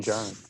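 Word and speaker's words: Djarin: could say it's dinder din john i think it's the d is silent i did have a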